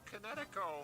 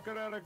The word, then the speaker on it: Kinetico: Oh, son, you should have remembered kinetic as in kinetic energy with an O on the end.